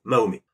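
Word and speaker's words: Mahomet: musulman ni d'origine arabe je le prononcer à la française donc mahomé parce que parce que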